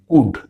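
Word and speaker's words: could: ইংরেজি শব্দ ক্যান থেকে এই শব্দের উৎপত্তি কুড, যার অর্থ হলো পারা। এই শব্দটি কি হবে এস এবং এইচ এর উচ্চারণ আমরা জানি স, স মানে বাংলায় যেমন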